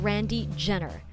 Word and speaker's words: Randy Gener: In New York, they call him Randy Jenner, pronouncing G as in George, but that doesn't make Randy any less Pinoy.